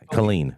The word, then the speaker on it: Killeen: Killeen, or what is it? How do you? Killeen. Yeah. It's clean.